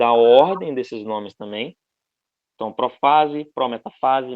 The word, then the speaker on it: prófase: desses nomes também então profase prometafase metafase anafase e telofase a pronúncia costuma variar em português a gente fala prófase eh metáfase anáfase telófase eles mudam a a vogal tônica mas é basicamente a